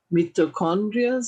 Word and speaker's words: mitochondria: more about what you've been studying about the mitochondria. I don't even know how to pronounce the name.